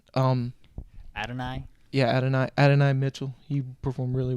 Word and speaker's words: Adonai: don't know how to say his name adonier Adonia Mitchell yes absolutely all right hold up they both they both performed really well um ad and I yeah Adonai Adonai Mitchell he performed really well both those